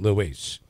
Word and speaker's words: Luis: Was it Luis or Louis? Well, Kristine pronounces it Luis.